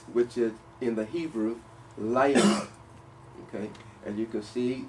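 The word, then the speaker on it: לילה: Night, which is in the Hebrew, layla. Okay, as you can see, it is spelled lamet, yod, lamet, hey.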